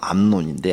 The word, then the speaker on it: 암논: 그래서 큰 제일 마지가 암논인데 암논 발음을 잘해야 돼요. 논바닥 할 때 논인데 이복 여동생 갖다가 강간하잖아.